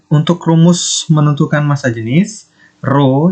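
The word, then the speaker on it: ρ: rumus menentukan massa jenis roh ini bacanya royal bukan huruf t tapi ini roh nah memang mirip seperti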